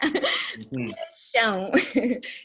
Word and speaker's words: paixão: And this one is for Brandon, paixão. Paixão can be passion, love, infatuation. Yeah. Paixão. Don't forget the nasal sound at the end, yeah?